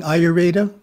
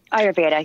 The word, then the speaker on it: Ayurveda: goes so we're talking ayurveda ayurveda yeah yes yes i didn't pronounce it right that's all right right for years well it's got the word veda in it so that gives us a clue right right right right